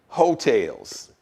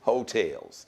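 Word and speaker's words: Heaux Tales: The album is titled Hotels, but it's spelled H-E-A-U-X, Hotels.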